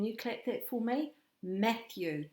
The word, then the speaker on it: Matthew: Matthew. 2 syllables in his name, and he's got a TH hiding in it. And we know that TH goes with our thumb, thumb, Matthew.